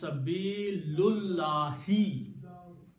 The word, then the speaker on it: Sabilullahi: And when you read it together, you do not pronounce this alif. So it becomes Sabilullahi. Sabilullahi is the complete word.